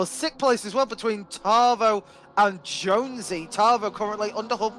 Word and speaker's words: Tarvo: catching back up to Tarvo. And I would like to apologise on behalf of Meadow to Tavo for continuously mispronouncing his name and putting a random R in it. It's Tarvo. Tavo.